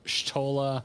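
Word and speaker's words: Y'shtola: makote tribes have letters ishtala and graha are from the y and g respectively and can be called shtola and raha oh so well now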